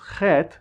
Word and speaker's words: Het: Do you see the Het and the H? Anyway, as you've probably heard already, I pronounce Het similarly to the letter J in Spanish, or maybe G in Dutch.